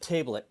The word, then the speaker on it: tablet: i could make scottish tablet or tablet depending on your pronunciation my scottish grandmother said tayblet um just like she never said father she always said fayther her particular accent or scottish accent that's what it was and